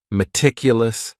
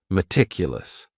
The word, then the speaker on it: meticulous: word is meticulous and this word has four syllables and the stress is on that second syllable meticulous meticulous that first syllable also has that schah that a sound that reduced vowel sound meticulous this is another